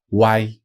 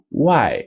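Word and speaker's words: 外: e y of course this will be spelled w a i that's right why when it's by itself outside is why with a fourth tone he is outside why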